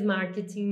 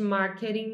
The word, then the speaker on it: marketing: cor tá então aqui marketing or marketing você pode pronunciar das duas maneiras marketing mais British English marketing mais American english mas as duas formas